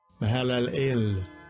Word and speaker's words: Mahalalel: Then his son, Mahalalel, how do you say that? Strong's H 4111. Mahalalel.